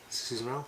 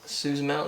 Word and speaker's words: Susamil: Bobby Susamil, is that how you say it? Susan Mel? Susamil, yeah.